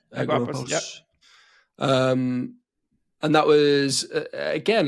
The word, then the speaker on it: Agorapulse: So you moved across to how do I pronounce that? Agorapulse. Agorapulse.